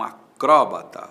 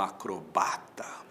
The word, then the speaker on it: acrobata: Fulano é um acróbata ou é um acrobata, tanto faz, acróbata ou acrobata.